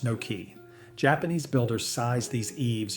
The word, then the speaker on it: noki: This is the work of the deep eave called noki, pronounced no-key.